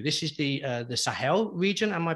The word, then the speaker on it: Sahel: were traveling through this is the uh the sahel region am i pronouncing it correctly that's right so um it